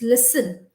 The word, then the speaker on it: listen: Yes, there is a Listerine mouth gargle, but that is Listerine. This is listen.